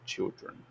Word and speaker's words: children: Notem a mudança de pronúncia. One child, 3 children.